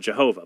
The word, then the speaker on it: Jehovah: false God, the God Jehovah. By the way, they call him Jehovah because they combine the vowels for Adonai with the Hebrew tetragrammaton. So we have Yahweh, the